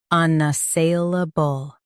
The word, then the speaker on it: unassailable: Stress say and keep lubble light.